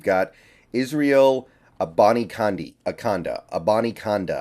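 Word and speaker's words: Abanikanda: Israel Bonnie candy akonda a Bonnie conda I believe is how you pronounce it I looked it up kind of difficult to find but I believe that is what you're looking for here Israel about akonda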